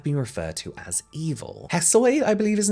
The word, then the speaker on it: Hesiod: Hesiod, I believe his name is pronounced, is an 8th and 7th century BC